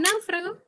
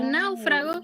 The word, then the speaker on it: náufrago: En náufrago, la fuerza parece estar en la A, por eso siempre se dice que cuando la sílaba tónica cae en el diptongo, gráficamente se acentúa siempre la vocal abierta, es decir, la A, en ese caso.